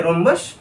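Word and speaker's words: rhombus: Fourth में रोम्बस, एच जो है आपका साइलेंट है, साइलेंट प्रोनाउंसिएशन से रोम्बस।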